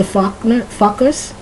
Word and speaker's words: Focker: Did you ever hear the movie Meet the Fockers? Fockers? It's Focker. If you pronounce it correctly, it almost sounds like a curse word.